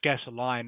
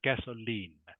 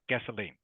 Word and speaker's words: gasoline: say gasoline gasoline yeah it's pronounced lean not line so not not gasoline is pronounced gasoline gasoline okay and the next